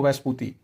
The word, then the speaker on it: Vespucci: उस आदमी का नाम है एमरीगो वैस्पुती। तो वैस्पुती की स्पेलिंग है वी ई एस पी यू सी सी आई।